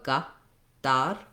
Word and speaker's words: Qatar: What you'll notice in the Arabic pronunciation is that they will roll their R for one thing. So ar, ar. The letter A is going to be the same sound in both syllables. So not so much of a g, more of a ga, dar, same a sound, simple, straightforward Arabic a.